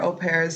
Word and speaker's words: au pair: So au pair, for people that like me don't know how to spell it, is spelled like AUPair, but it's pronounced au pair.